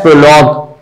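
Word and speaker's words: prologue: और यहां क्या है, प्रोलॉग, तो लॉग में सिर्फ जी को प्रोनाउंस कर रहा है, यूई तो साइलेंट है, तो जीयूई पूरे के लिए सिर्फ ये साउंड आ रहा है, तो इसको सिंबल जी से प्रेजेंट करते हैं।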